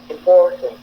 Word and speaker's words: important: Deuxième mot, important, important, important, important. Vous voyez, on prononce à peine le in et le n, donc on prononce beaucoup le for, important.